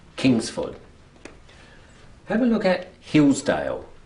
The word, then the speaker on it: Hillsdale: Have a look at Hillsdale. Which is the strong syllable? Is it hills or is it dale? Hills. Hills. That's right. So it's Hillsdale.